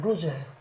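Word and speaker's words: לוז: 본래의 이름이 루스 루즈이 히브리어 발음으로는 루즈에 어떻게 쓰냐 하면 요렇게 해서 중간에 와서 요렇게 이게 라메드 라메드 라메드 그다음에 바브 바브 그다음에 자인 요게 루즈에 루즈 루즈에 라메드 라메드 막대기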